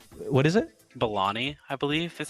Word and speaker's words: Vellani: Bellani, I believe is how it's pronounced. Bellani. Okay, Iman Bellani. She is perfectly casted. I love her as Kamala Khan. Vellani.